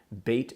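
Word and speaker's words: בית: a letter Beit Beit and Bates is corresponds to the English letter B as in boy Beit is a Hebrew word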